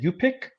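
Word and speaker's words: Yup'ik: it's from the uh I think you pronounce it upic people y apostrophe ik they have Legends of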